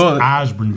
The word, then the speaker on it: Ysbrand: It's spelled, YSBRAND. It's Osborne, but they are great kids.